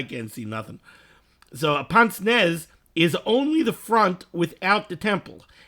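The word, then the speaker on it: pince-nez: This is talking about what was known in the olden days as, and the way it's pronounced in English, is a pince nez.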